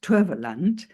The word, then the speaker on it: Towerland: And I just wanted to start off with where Hanien left off, where she spoke about the Afrikaans translation of Towerland, which is pronounced Toverland, as magical land.